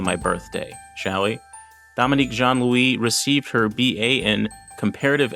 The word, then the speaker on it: Jean-Louis: not particular but it Jean Louie is the correct pronunciation but I'm not hung up on pronunciation Dominique Jean Louie yes that's right that's